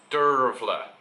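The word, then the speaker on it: Dearbhail: so I knew this girl called Dervla which is an Irish name it's spelt de AR be h ail and she's a lovely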